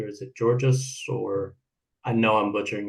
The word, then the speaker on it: Georgos: Am I saying it correctly, or is it Georgios? Or I know I'm butchering your name. I it's apologize. absolutely fine. I'm Greek, and my actual name is Georgos.